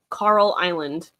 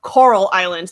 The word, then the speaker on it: Coral Island: Carl Island. Carl Island. Like some guy named Carl. I've been trying. Everybody thinks I say Carl. Coral. Coral Island. The way it comes out.